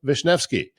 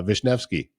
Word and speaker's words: Wisniewski: Today, our very special guest is Melissa Vishnvki. And yes, I uh had to practice to pronounce her name.